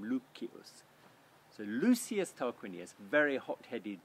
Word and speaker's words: Lucius: name was lucius tarquinius lucius we say in english but he would have pronounced his name lukkius so lucius tarquinius very